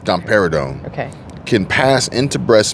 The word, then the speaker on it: domperidone: these drugs dumper dumper dumper if you can't pronounce it you shouldn't be putting it in your body domperidone I think it's domperidone okay can pass into breast milk in small